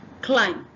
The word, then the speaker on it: climb: the mo sound but the B is silent you must write it down when you are writing but in pronunciation you must not pronounce it the next one